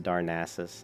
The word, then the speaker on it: Darnassus: uh Darnassus thing yeah I say darkness I've always said darkness is but I know it's pronounced Darnassus I know it's pronounced that way but I decide I like darkness but people save Darnassus